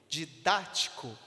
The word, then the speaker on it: didático: círculo não é verdade na palavra didático nós temos quantas sílabas de didático temos quatro sílabas a força está aonde no dá de tático é a terceira sílaba percebe que é antepenúltima a terceira sílaba do final e da mesma forma na